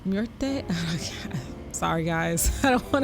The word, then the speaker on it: Muerte: Boss ability, Santa Muerta. I said it wrong. Muerte.